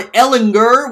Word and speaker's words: Ellinger: You missed on Ellinger with the hard G.